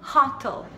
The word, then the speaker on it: hotel: Mas a pronúncia certa é hotel, hotel. Hotel, então mais forte na última e a gente tem que colocar a língua para cima, então é hotel, L.